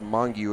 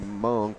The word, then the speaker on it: Hmong: think the young man we called mangu is just hmong pronounced like tongue tongue okay thank you for